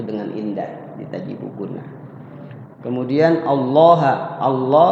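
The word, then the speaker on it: ٱللَّٰه: indah diajibu guna kemudian allaha Allah lafaz Allah dibaca tafim tafhim tafhim artinya te tebal tebal tebal lawan kata dari kapan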